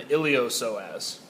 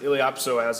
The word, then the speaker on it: iliopsoas: they enter the thigh we just call them the ilos soaz or you can pronounce it iliopsoas if it helps you remember there is a p in so as